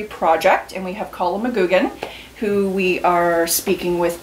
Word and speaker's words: McGugan: My family, even though it's spelled G-U-G-A-N, is properly pronounced McGugan.